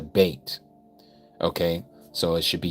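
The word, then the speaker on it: ב: It is not a vate. It's a bait.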